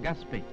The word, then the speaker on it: Gaspé: terre ou Finist terre champelin écrivait ce mot g A S P a y qui se prononce comme de nos jours Gaspé le séminaire maintenant sous